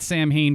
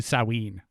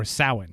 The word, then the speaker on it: Samhain: like samhain right so folks out there i'd pronounce that samhain for years it's actually salween or sauhan but it's basically halloween right it is the